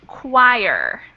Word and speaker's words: choir: going to talk about and the word is pronounced choir choir and Cho yeah it's uh where you